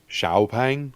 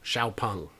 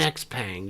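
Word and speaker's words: XPeng: just call it an x-pang you'll sell more yeah because it's very hard for us english speakers to look at an x and pronounce it s h i'm working on it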